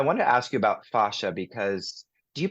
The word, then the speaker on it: fascia: yeah I was corrected I was corrected by um some of the fascia researchers because I used to call it FASA also and um that I was I was fine to call it fascia but I think you'll hear people say FASA or fascia we know what you're talking about you say tomato I